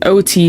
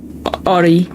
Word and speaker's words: Oti: So you pronounce it like Oti, not Ori.